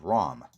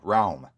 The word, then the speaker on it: Raum: it's a reverb plug-in called ROM excuse me realm is how it's pronounced realm and its really